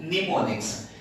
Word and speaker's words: mnemonics: And now the other trick is learning through mnemonics. Here M is silent, it won't be, it's muted, right?